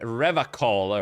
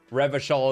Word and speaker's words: Revachol: Should we start mispronouncing Revachol as well to Revacol? I don't know if I want to.